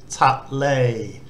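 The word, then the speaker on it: ทะเล: But tahan is a T consonant, then the short A vowel, ta is the first syllable, then the Sara A and lo ling, lay, ta lay.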